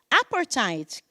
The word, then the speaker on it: apartheid: and white anti-apartheid banners, which some people pronounced apartheid and others pronounced apartheid.